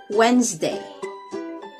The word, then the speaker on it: Wednesday: right it's wednesday wednesday this word looks like it should take far longer to say than it does the middle three lepers look like they should be a separate syllable but the truth is they sort of get swallowed okay so they're there because